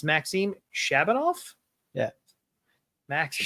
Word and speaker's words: Maxim: Maxim. Shabanov. Just like the magazine, spelled the same way.